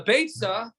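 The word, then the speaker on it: ביצה: So, Beitza rhymes with Eitza. Beya does not rhyme with Eitza.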